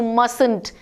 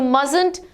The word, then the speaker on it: mustn't: must not or you mustn't now here T is though we write it but it is silent when we speak it so you mustn't work on dad's computer